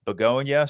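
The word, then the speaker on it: Bugonia: We got the uh first look and first trailer for the latest Yorgos Lanimos film, Beonia, starring Em Stone. What? It just looks like it spelled like baloney.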